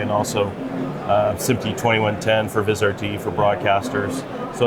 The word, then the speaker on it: Vizrt: I was at your event on Monday, and Vizrt, is that how you pronounce it? Vizrt?